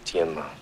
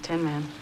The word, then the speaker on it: Tienma: The correct pronunciation is Tienma. See how it ended up Tin Man.